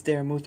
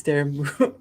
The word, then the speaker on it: Daramouthe: My name is Daramouthe, or Dara for short, because sometimes people mispronounce the last part of it. It's Daramouthe. Some people say Daramouth. I understand, but it's pronounced Daramouthe.